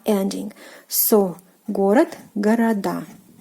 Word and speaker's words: город: So город, города. Города, city, cities. And pay attention to the stress position, город, города. So the stress falls on the last syllable, which is the ending of a plural form, which is "a".